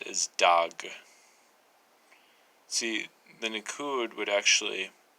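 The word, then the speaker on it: דג: actually be pronounced as dog. See, the nikud would actually make it to where you're supposed to pronounce the alef in between the two letters which are in the written form.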